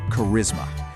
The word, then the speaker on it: charisma: It's pronounced charisma. That CH makes a hard K sound.